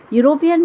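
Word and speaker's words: European: वैसे ही यूरोपियन country यूरोपियन में हमने इ से शुरुआत वाली स्पेलिंग ली है। परंतु उच्चारण में अगेन यहां पर या में उ की मात्रा यू आ रहा है।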